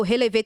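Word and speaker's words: relevé: descrição do vídeo é não tem o relever tem um acento no é mas aí coloca Releve balé mas o nome é se pronuncia relever que é um passo de balé e tem o meu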